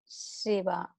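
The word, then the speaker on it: शिव: So it is little, the voice sound is spread. Shiva.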